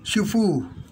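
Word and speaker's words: 主婦: Pag binikas nyo po ito ng Shufu, ang ibig sabihin po noon ay pangit na babae. Kaya huwag nyo bibikasin ng mahaba.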